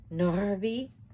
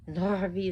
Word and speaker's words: Narvi: And you should roll your R's if you can with the Nordic names, because that's how in the ancient Norse would do. So any of the R's are always rolled.